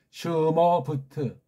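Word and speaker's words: שמות: 바브는 모음이 없으니까 그냥 마지막 타브도 모음이 없으니까 그래서 슈, 슈, 뭐 슈머부트, 슈머부트. 이게 원래 정확한 읽기예요. 완전한 음절 문자로 한다면 슈머부트.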